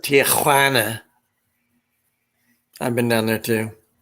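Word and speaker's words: Tijuana: They say, you have to say it right. Tuana.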